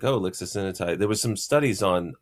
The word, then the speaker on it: lixisenatide: So I think it should be called lixisenatide. Why is it lixisenatide? It's kind of hard to pronounce.